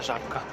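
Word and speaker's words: Żabka: вашу увагу на жабку жабка такі читається жабка польський маркетологи чомусь люблять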